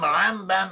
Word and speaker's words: Rambam: Nachmanides, also known as Ramban, should not confuse him with Rambam with an M. Rambam is Maimonides, and Ramban with an N is Nachmanides.